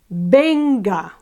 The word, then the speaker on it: venga: Venga, same thing. It ends with a vowel, and it's ben that's accentuated, so no tilde.